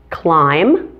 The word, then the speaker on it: climb: the two eye pronunciations climb has a long eye and limb has a short eye climb limb those vowel